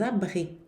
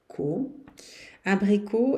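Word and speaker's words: abricots: os animais anim e des abric abric é damascos uns damascos né o t e o s não se pronunciam mas aquies obrigatória desab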